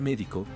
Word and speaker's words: médico: Por ejemplo, en la palabra médico, la sílaba tónica es la penúltima y no termina en N, S o vocal, por lo que se coloca una tilde en la E.